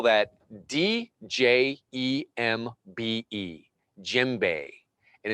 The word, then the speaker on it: djembe: It's almost like the djembe decided when I would learn.